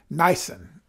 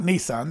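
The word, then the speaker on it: Nisan: think it does anyway niacin n-i-s-a-n it's not Nissan that's a Japanese car niacin is the correct pronunciation so God made a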